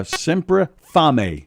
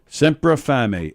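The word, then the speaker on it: Sempre Fame: was delicious uh semp sempra fami s-e-m-p-r-e fame f a m e but it's pronounced family it means almost hungry uh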